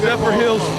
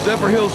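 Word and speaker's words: Zephyrhills: Hamilton, Michigan going up against my man Big Little Country Justice Swans out of I can't pronounce Zer Hills. Zephr Hills, Florida.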